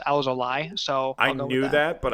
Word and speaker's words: Alzolay: And I believe the way you pronounce it is Alzolay. I heard that A-Y in his native tongue is Alzolay.